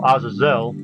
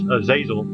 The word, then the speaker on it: Azazel: It was about the angel Aazelle. I remember because they mispronounced the name as Aazil.